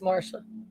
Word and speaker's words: Marcia: Or is it Marcia or Marsha? Marca. Spelled Marcia, but it's pronounced Marsha.